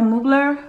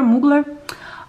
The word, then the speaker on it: Mugler: salt air and we have the angel by moogler i think that's how they pronounce it muggler mugler um and we have the prada la rosa